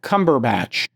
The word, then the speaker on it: Cumberbatch: Um if you've never seen the movie with uh Cumberbatch, am I pronouncing that?